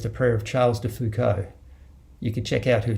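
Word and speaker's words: Foucauld: to you first the prayer of charles de fuko you could check out who charles de fuco was his surname is spelled f-o-u-c-a-u-l-d this prayer it's a beautiful prayer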